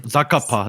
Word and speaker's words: Zakapa: How do I pronounce that, Warren? Zakapa.